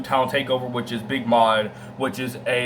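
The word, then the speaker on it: Maude: Takeover, which is Big Mod, which is it's not spelled M-O-D, it's spelled M-A-U-D-E, so it's spelled Big Mod instead of just M-O-D.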